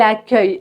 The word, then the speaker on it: accueil: Donc retiens que tu dois mettre le u en premier pour vraiment faire le son que.